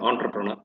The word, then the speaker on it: entrepreneur: இப்போ வந்து there are lot of skills needed if you want to be an entrepreneur. இது entrepreneur சொல்லலாம், entrepreneur சொல்லலாம். Entrepreneur is the actually correct other pronunciation. Since it's a French word.